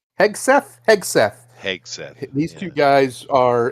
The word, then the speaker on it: Hegseth: And him and old Hesketh. Yeah. Heseth. How you say his name? Hegseth.